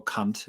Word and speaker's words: Kant: Could you expound on some of Spengler's key criticisms of Kant or Kant as it's actually pronounced that we find in volume one?